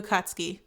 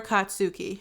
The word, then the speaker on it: Katsuki: the dter ogist bakugo katski or katsuki it depends on who you who you are your preference because it can be pronounced both ways um I swear in